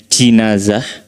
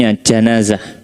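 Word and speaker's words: جنازة: Kata *janazah* ini dapat diucapkan dengan kasrah pada huruf jim: *jinazah*. Dapat diucapkan dengan fathah pada huruf jim: * janazah*. Ya, jadi bisa dibaca sebagai * jinazah* atau *janazah*. Beberapa ahli membedakan keduanya secara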